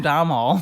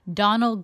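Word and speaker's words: Domhnall: I couldn't remember how to pronounce it. I called him Dom Hall. I just looked this up on YouTube on how to pronounce his name. He's Irish, so he's got an Irish name, and there's letters in there I'm not sure which to pronounce.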